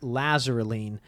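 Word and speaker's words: Lasaraleen: tricky it sounds like lazarulene but or it doesn't look like that but that's how it's pronounced so we'll actually talk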